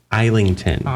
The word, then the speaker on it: Islington: As I said, we're going to talk a little bit about James James Eington. Do not pronounce that S.